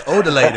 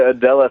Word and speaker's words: Odela: I got to make sure I pronounce that right, because I grew up with Mexican kids, and that says Odele to me. What's up with that? No. It's definitely Odela Threadz for Headz, man.